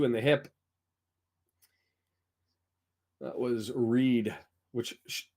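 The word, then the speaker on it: Read: That was Reed, which, why is it R-E-A-D and it's pronounced Reed?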